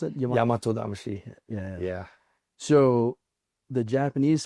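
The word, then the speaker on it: Yamato-damashii: How do you how do you pronounce it? Yam Yamato Damashi.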